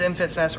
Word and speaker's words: Enfys: corrected me multiple times it is it is emphasis or at least that's how it's said on screen that's how it's said on screen um hey I thought it was in fees and asked before we saw